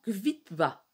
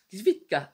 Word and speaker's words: Kvitka: Kvitva. Non. Kvitka. Kvitka. Donc, c'est Nathalie Pelik.